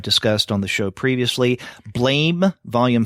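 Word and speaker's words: Blame!: December manga show, that we may have been calling it blame, but I think Shay had mentioned that it looks like blame, right? But it should phonetically be blam, right.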